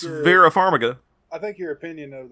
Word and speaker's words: Farmiga: what's up i think you uh it's vera farmiga i think your opinion of the conjuring is